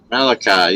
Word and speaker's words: Malachi: Malaki, or rhymes with sky. Malachi? Malachi, yeah. Malachi. Ah. Now you got it.